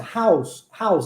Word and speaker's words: how's: Olha a pronúncia, how's. É igual aquela balinha que a gente chupa, tá bom?